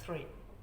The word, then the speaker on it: three: Jadi R-nya diucapkan dengan samar atau tidak terlalu jelas R-nya ya. Three.